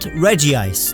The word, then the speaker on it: Regice: Regice, not Regice, there's only one I.